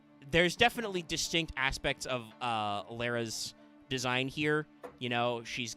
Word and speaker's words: Lara: This is Ritual Beast Tamer Laura, or probably supposed to be pronounced Lara because she's rara. I'm just gonna call her Laura.